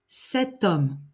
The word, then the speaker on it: homme: Le H muet, par exemple, un hôtel, l'hôtel, cet hôtel. Un homme, l'homme, cet homme. Un horizon, l'horizon, cet horizon.